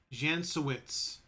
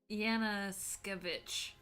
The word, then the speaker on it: Yanaskevich: A Kleindenst and a Jansowitz. Jansowitz. Yes. Yanaskevich. Yanaskevich, thank you.